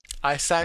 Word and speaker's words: Isaac: which Isaac, uh that's how they say it. oh Isaac Bonga. Isaac. Isaac Bonga.